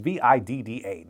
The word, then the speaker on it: VIDAA: So it uses VIDAA, or maybe VIDAA. I don't know how it's pronounced. It's VIDAA. That is the OS that Hisense has decided to go with.